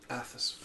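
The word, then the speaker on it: Athas: If Scott wants, he can scout the area for any immediate threats because Athus.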